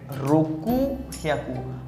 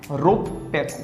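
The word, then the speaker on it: ろっぴゃく: अगला अपवाद ये हमारे 600 हैं। . हमें 600 सामान्य तौर पर मुझे 6* कहना चाहिए था 100 रोकु याकू, लेकिन रोकू याकू वापस आ गया है. नहीं। हम अपवाद उपयोग रोप-पियाकू।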